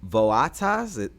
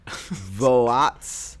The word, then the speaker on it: Voatz: Enter a company called, I think you say it, Voatas, all right, so I'm doing it again. Voats. That very clearly says votes.